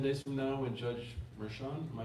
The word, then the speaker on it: Merchan: Is it 10 days from now when Judge Merchan, am I pronouncing that Oh, right? yeah, Merchan, yeah.